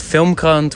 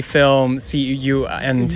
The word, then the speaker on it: FilmKrant: It's very careful about pronouncing the name of the publication there, because in Could have easily be film CUNT, yes, for sure, yeah.